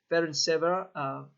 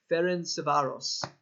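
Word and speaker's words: Ferencváros: Yes, they got their Champions League win against, and let me make sure I'm pronouncing this right. It's Ferencvaros. I couldn't even do it first try. Ferencvaros.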